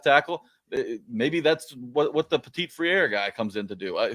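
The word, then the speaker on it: Petit-Frere: I'm going to have to learn how to pronounce his name. Petit Friere. Petit Friere. Oh, but you got to say it like this. Petit Friere.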